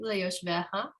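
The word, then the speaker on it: לְיוֹשְׁבֶיהָ: So the difference in your pronunciation and mine, I put the emphasis on the vav here, the ve. You had simply put the emphasis on the ha, but the rest of it was right.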